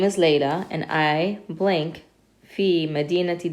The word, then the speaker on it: ليلى: So we pronounce it like a regular alif. It just looks like a ya, it doesn't have dots.